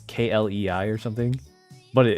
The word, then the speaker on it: Klei: I think the studio is called Klei, but it's spelled like well, it's k l e i or something, but it it's pronounced like play, you know, Klei.